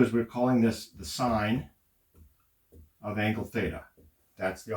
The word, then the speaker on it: sin: we dro the E we still pronounce it sign we pronounce these two the same sometimes people will call this sin instead of sign don't